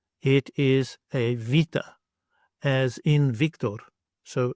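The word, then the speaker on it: βήτα: This letter you may know as beta, but actually it is vita. It makes a V sound. It looks like a B. It's not a B. It is a vita, as in Victor.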